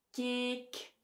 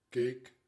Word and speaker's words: keek: Ten slotte heb je ook lange klanken. Bijvoorbeeld de e en de o. En in België zal je die ook zo uitspreken. Keek, boos. Maar in Nederland maken ze hier een tweeklank van. Ze zeggen... Keek, boos. Heb je het verschil gehoord? Dus wij zeggen keek en boos en zij zeggen keek, boos. Zoiets.